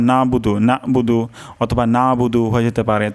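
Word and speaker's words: نَعْبُدُ: আমরা আগেও শিখেছি যে আইনের উচ্চারণ গলার মাঝখান থেকে হয় তো এখানে উচ্চারণটি হবে নাবুদু তো অধিকাংশ ক্ষেত্রে এটার উচ্চারণ নাবুদু নাবুদু অথবা নাবুদু হয়ে যেতে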